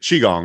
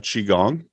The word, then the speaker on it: Qigong: is it pronounced cheat Qigong right yes Chi is or the QI is always pronounced like c-h-i in Chinese medicine awesome can you speak to some of the benefits of Qigong oh absolutely where to